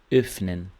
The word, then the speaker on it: öffnen: Então aqui você faz esse biquinho triste e pensa em E, né? Pronuncia E. Então aqui, ó. Öffnen.